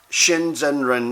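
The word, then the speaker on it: 真善忍: So, so though all those elements, Shinzhenren is the Chinese pronunciation of it in it, but check that out.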